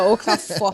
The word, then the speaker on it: Okafor: Assim pronuncia Okafor. Você falou Okafor. muito bem o assim, sotaque ali.